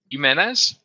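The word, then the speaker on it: Jiménez: last name human menz you menz yeah like treat the J as a um uh as a as an H okay Eduardo jimnez godam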